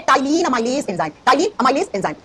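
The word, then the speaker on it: ptyalin: इसी का दूसरा नाम होता है टाइलीन अमाइलेज़ एंजाइम। टाइलीन अमाइलेज़ एंजाइम। देखो बच्चों स्पेलिंग होती है से प्रोनाउंस करते हैं तो पी साइलेंट होता है। टी से बोलते है।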